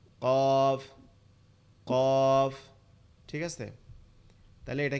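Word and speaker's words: ك: সেটার নাম হচ্ছে কি কাফ, সেটার নাম হচ্ছে কাফ। এই কাফটা কোথা থেকে উচ্চারণ হবে? কাফটা হচ্ছে জিহ্বার গোড়া থেকে একটু আগে বাড়াইয়া, জিহ্বার গোড়া থেকে একটু আগে বাড়াইয়া, অর্থাৎ জিহ্বার গোড়া থেকে আরেকটু সামনের দিকে যাবে, জিহ্বার আগের থেকে আরেকটু সামনের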